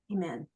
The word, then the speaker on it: Iman: Iman. Absolutely correct. It's Iman.